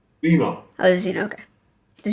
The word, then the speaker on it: Zino: So how would you pronounce? Well, uh Zino. Zeno.